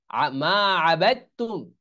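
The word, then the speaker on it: ما عبدتم: এই জন্য মা আবাদতুম, এই দাল উচ্চারণ আসতেছে না।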